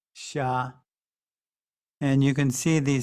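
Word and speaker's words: 杀: another common character which means to kill it's pronounced sha and you can see the simplified character and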